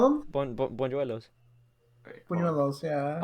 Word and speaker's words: buñuelos: Bonjuelos. Wait, hold on. Buñuelos. Yeah. I mean, I think it's pronounced bonuelos, but I like to say bonjuelos because it sounds nicer to me.